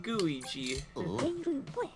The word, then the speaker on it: Gooigi: of professor e gad i give you gooey g which is kind of an interesting pun because i think he says that a couple games at least that's how it's pronounced the development process was